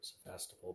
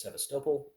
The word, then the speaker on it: Sevastopol: But more realistically, there's Rostov over here and Sevastopol down here, or Sevastopol, depending on your pronunciation, but I think I have heard it from people as Sevastopol, from those who live near it, so or have lived near it.